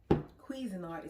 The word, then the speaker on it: Cuisinart: I've already chopped them up with my Cuisinart is how you pronounce it, 4 cup.